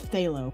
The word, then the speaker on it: phthalo: Phthalo yellow green. Halo yellow. Phthalo yellow green. It's that ph um oh phthalo color. Yeah, but it's phthalo. The p silent.